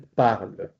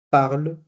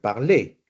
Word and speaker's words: parle: Entonces, lo que está marcado en rojo ustedes no deben pronunciarlo.